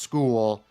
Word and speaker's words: Skule: It's pronounced school.